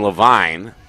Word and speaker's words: Levine: scooped up by levine not levine by the way i apologize for mispronouncing it it's nathan levine the senior headed to